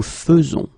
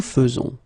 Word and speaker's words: faisons: e as normally you should, but you will pronounce it like e. Nous faisons. Okay, it's really fe, fe, fe. Nous faisons. Okay, you see it with e, but then you pronounce it fe. Nous faisons.